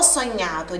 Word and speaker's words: sognato: Ho sognato di volare con te su una bici di diamanti. Sobre pronúncias, quando nós temos o GN no italiano, a pronúncia é do NH.